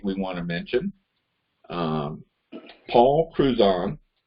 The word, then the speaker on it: Cruzan: We have a new candidate we want to mention, Paul Cruzan. Am I pronouncing that part right, Paul? Yeah, it's Cruzan.